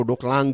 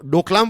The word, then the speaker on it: Doklam: Right, तो इसके अलग अलग नाम है, चाइना में इसका एक अलग प्रोनाउंसिएशन है। राइट, इसको डोकलांग कहते हैं, हमारे यहां पर हम इसको डोकलाम कहते हैं। तो डोकलाम वाला जो टॉपिक है